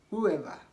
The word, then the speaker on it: whoever: okay W is silent another rule is that W is not supposed to be pronounced when it comes before h in these ways try to compare these